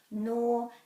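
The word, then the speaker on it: nō: this is or and there's a macron so it's a long one nor and then this is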